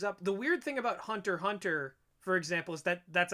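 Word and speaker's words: Hunter × Hunter: the weird thing about hunter hunter for example is that that's actually how you're supposed to pronounce it it's uh the x is silent um so it's there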